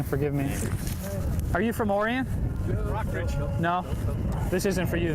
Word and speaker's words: Orion: sorry about what happened I pronounced it Oh Ryan on TV can you believe it